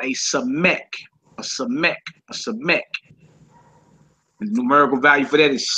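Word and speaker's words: ס: in Sun and it's called a SE ACH a sech numerical value for that is 60 60 all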